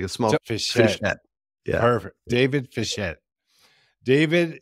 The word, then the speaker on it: Fischette: Today we have with us David Fischette. David is the founder. Sorry, did I pronounce it correctly? Almost. It's Fischette, like a small Fischette.